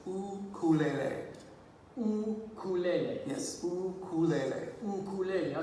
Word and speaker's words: ukulele: Well, the proper pronunciation in Hawaii is actually ukulele.